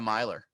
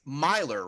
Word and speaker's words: Myler: the podcast started it's miler right the last name very sweaty can you guys hear me no you can't okay ask one more time all right so your last name is pronounced miler right oh gosh it's okay